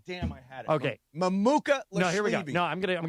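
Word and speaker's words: Mamukelashvili: I want you to think of his pronunciation in three parts. And first of all, if you don't feel like trying, just call him Mamu.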